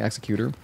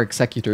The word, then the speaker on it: Executor: Or Executor. You can pronounce it either way. We looked it up earlier on stream. Both ways are correct. So you can say it like the Pokemon or like Executor.